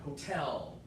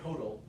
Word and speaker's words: hotel: Like hotel. Hotel. You guys say hodl.